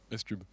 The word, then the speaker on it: SCUB: C'est comme ça qu'on prononce ? SCUB.